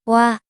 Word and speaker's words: 와: This vowel is 와, 와, It is combined O and 아, so you should pronounce O and 아. in a row very quickly.